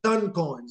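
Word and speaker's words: Toncoin: ton coin excuse me ton coins it's like a ton like a elephant w might weigh five tons all right so it's ton coin that's how it's pronounced and they have a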